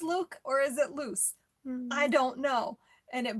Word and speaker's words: Luc: Yeah, did anyone else struggle with pronouncing his name? I think it's supposed to be Luke, but when she said short for Lucian, I went, wait, is it still pronounced Luke or is it loose?